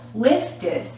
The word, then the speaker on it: lifted: did you got it it's lift it you're adding an extra syllable lifted lifted lift lifted lifted